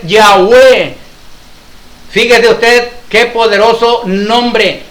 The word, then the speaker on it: Yahweh: Son 4 letras, hermanos. En hebreo es la Yud, He, Waw, He, que fonéticamente pronunciado es Yahweh.